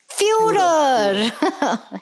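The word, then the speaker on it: Führer: I know I'm pronouncing it incorrectly. Fur furer or for what is it? Furer.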